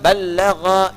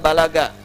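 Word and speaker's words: بلغ: Dari kata balagha yuballighu. Ya. Balagha dibacanya, bukan bahasa Sunda balaga, ya.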